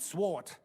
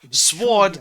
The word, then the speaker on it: sword: You must break into their sword fighting hall and steal their genat guild sword. They must not see you. The W is silent. It's not sword. It's sword.